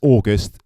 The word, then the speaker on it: AGST: listened to that artist it's August it's spelled agst you can tell they're